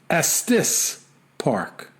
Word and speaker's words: Estes Park: just for your own knowledge Estes Park is pronounced Estes Park yeah can we trust this guy as being